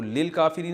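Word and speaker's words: للكافرين: तो लिल काफिरीन असल में था ली अल काफिरीना। तो अलिफ साइलेंट हो गया।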